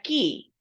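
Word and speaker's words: χ: La letra X en el griego se pronuncia ki.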